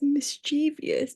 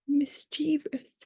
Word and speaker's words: mischievous: Most people, even natives, would pronounce it as mischievous because of the O-U-S at the end, but it's actually pronounced mischievous.